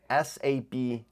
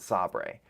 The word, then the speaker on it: Sabre: was called saber s-a-b-r-e now I kept pronouncing it Sabre which also after I realized that made me think of The Office episode where um they're bought out by saber and they pronounce it sobre so um yeah I